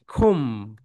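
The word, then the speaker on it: comb: Okay my dear soldiers, so okay, খুম, বি, তাহলে বিয়ের উচ্চারণটা কি হবে বলতো? বিয়ের উচ্চারণটা এখানে হবে না, খোম হবে।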